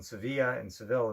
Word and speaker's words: Sevilla: And you got the cathedral in Seville in southern Spain. Stunning, largest, I think, cathedral. How do you pronounce it? Sevilla? Seville. Sevilla. Yeah. Sevilla is the correct pronunciation.